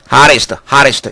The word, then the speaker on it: hottest: hottest 이런 표현 들었죠? hottest입니다. T가 양쪽 모음 사이에선 D 발음 혹은 L 발음을 나는 경우가 무척 많습니다.